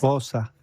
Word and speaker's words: Xhosa: Exacto, es una palabra africana del idioma Xhosa, es decir, Xhosa, pero lo pronuncié como lo pronunciarían... A ver, ¿cómo lo pronuncias? Xhosa, porque hacen con clic, conversan con clic sus frases, los zulúes también.